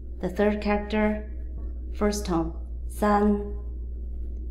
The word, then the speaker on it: 三: The third character, first tone, san, san, san.